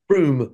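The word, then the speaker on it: Frome: Froome.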